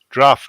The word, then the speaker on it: draught: I mean, Draft.